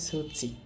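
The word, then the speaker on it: 土: জাপানি উচ্চারণ হবে সুচি।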